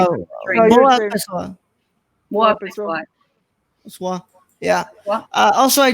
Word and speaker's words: Boa, pessoal: Am I even pronouncing it? I'm sorry. no, Boa you're saying- pessoal. Boa, pessoal.